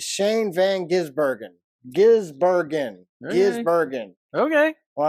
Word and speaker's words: Gisbergen: Or I think I've got Shane Van Gisbergen. Gisbergen. Bergen. It's not Burger. You'd think I would know it because we've been talking about him for a long time. It's Shane Van Gisbergen.